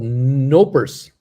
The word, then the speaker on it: Knoppers: the k is silent so they're called nopers laughing out like lavender